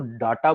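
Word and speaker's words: data: Right, देखो दोस्तों, एक वर्ड आता है, कुछ लोग उसको, बहुत लोग डाटा बोलते हैं, बहुत लोग डेटा बोलते हैं, अलग अलग नाम से इसको। Both are both pronunciation correct, but I find डेटा more comfortable.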